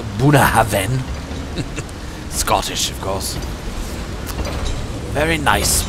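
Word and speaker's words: Bunnahabhain: glass of um well I've been told it's pronounced buah Haven Scottish of course very nice whiskey very interesting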